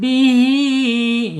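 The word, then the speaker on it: بِهِۦ: ab mantul ab gitu bihi Ya, di sini ada ee ha ya, hair ya atau ha silah. H silahnya menghadapi huruf alif ya. Ketika ada mad silah menghadapi huruf alif berarti silahnya silah tawil ya. Tawil atau jauh atau panjang gitu. Panjangnya en harakat. Bihi ya panjang enam harakat.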